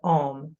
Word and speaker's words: om: chant the sacred Mantra om for distinct ways first inhale deeply and pronounce the O longer than the m oh this enlivens